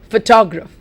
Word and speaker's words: photograph: dear students advertise advertise photograph I'll say that again advertise photograph advertise photograph notice that the stress is on the first syllable can you say that